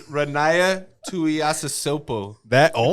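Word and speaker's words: Ronaiah Tuiasosopo: It's Ronaya Tuiasosopo. This one's been fucking practicing that pronunciation.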